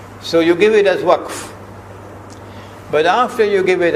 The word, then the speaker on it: waqf: Now you must not say waqaf, because the word is in the Quran, you must pronounce it as it is in the Quran. So you give it as waqf.